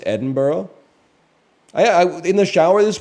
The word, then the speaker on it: Edinburgh: Because it's spelled Edinburgh, but it's pronounced Edinburgh.